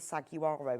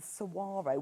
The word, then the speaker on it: saguaro: I called it the saguaro until I listened to um pronunciation. It's the sarro, which is kind of your western one.